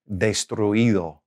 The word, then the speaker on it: destruido: Okay, if it's a verb that ends with U-I-R, okay, then you don't have to put an accent on the I. Here's an example. Destruir, to destroy. Destruir, okay? So that past participle will be destruido. So we don't really have an accent there, all right?